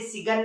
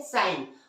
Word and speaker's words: sign: जैसे एक सबसे सिंपल सा एग्जांपल आप देखें, क्या, साइन, SIGN, इसे सिगन नहीं पढ़ते, क्या पढ़ते हैं, साइन।